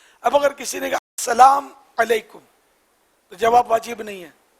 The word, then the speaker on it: السلام علیکم: بہار شریعت میں لکھا ہے کہ السلام علیکم، یہ درست ہے، میم پر پیش ہو. اب اگر کسی نے کہا السلام علیکم تو جواب واجب نہیں ہے.